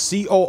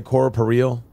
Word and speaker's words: corporeal: restore one's coroporeal form alexa pronounce c-o-r-p-o-r-e-a-l i pronounce that corporeal did i really just say cora pereal me